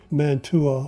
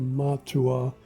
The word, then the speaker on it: Mantua: but it was actually built by Mantua or matua however you may pronounce that it's m-a-n-t-u-a apparently they were making